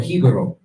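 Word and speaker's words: Jíbaro: Like, and what you're gonna see is that there's certain things like, for example, Hibaro, or Hibaro is the real pronunciation of it.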